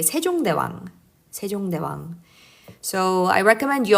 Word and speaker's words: 세종대왕: You say 세종대왕.